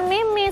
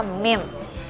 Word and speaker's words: meme: yang biasa disebut Meme padahal bacanya bukan Meme sebenarnya bacarnya yang benar itu adalah mim foto-foto atau gambar yang